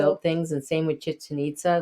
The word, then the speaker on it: Chichen Itza: Yeah, Chichen Itza. Chichen Itza. Think of chicken and nitzas. I don't know. That's kind of the spelling. Chicken Itza. Chickens and nitzas.